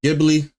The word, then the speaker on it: Ghibli: So today, apparently I've been getting sent a particular video in general, mainly because this whole, I would say, AI art studio Ghibli, that's how you say it, controversy is actually going around like wildfire.